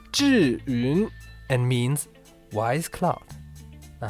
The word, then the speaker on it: Zhiyun: If you ever wondered what's the meaning of the Chinese characters on the back of every Zhiyun Crane gimbal, well, it's pronounced Zhyiun and means wise cloud.